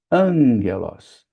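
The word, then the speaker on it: ἄγγελος: GG e Los, mas na pronúncia, o primeiro gama se torna um gama nasal. Então a gente não dizelos, a gente diz anguelos.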